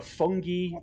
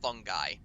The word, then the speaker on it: fungi: Traditionally, it's pronounced fungi. Oh, sorry, Yeah. fungi.